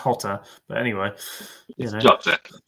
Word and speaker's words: Jota: It's Jota. Jota, yeah. It's actually pronounced Jota, but anyway.